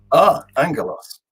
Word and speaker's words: Angelos: So it's Angelos with a hard G. Angelos, right?